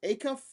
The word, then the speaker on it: Acuff: They have a stud freshman, Darius Acuff.